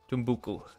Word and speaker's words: Timbuktu: did get friends with tambuk timbuktu is actually the uh correct pronunciation of that one i think aggressive expansion